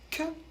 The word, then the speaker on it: que: Q et U, vous l'avez vu, ça fait que. On ne prononce pas le U. Et le E se prononce E.